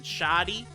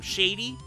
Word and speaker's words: Shadi: That's how they say it in the Japanese version, and I rather like that pronunciation. Shadi. I do like that. So, I don't know. In the English dub, they probably call him Shady, which is cool, because,